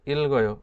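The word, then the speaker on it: 읽어: এর অর্থ হচ্ছে পড়ি এখানে আমি ইলগয় দুইটাই উচ্চারণ করছি কেন করছি নিচে জোড়াবাচ্ছিমের পরে যদি ইয়ং থাকে তাহলে এই জোড়াবাচ্ছিম থেকে একটি উপরের দিকে উঠে যাবে তাহলে এই গিয়েটা উপরে উঠে যেয়ে কিভাবে উচ্চারিত হচ্ছে ইলগয় ইলগয় ইলগয় অর্থ পড়ি আশা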